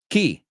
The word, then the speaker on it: chi: to take notes well how do you say who in Italian key I wrote down yve in English because that's what it sounds like to me key right key and then uh she